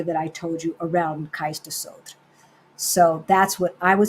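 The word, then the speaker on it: Cais do Sodré: It's spelled Cais, another word, Do, and then Sodre is how we would pronounce it in Spanish, kind of. Sodre, but they don't pronounce it that way. So it's Sodre.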